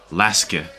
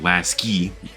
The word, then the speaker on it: laske: to lasky from locals i hear his name is pronounced laske not lasky but we're gonna say